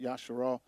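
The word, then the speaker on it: ישראל: They like to say Israel. You know, he changed his name from Jacob to Israel, pronounced Yasharal.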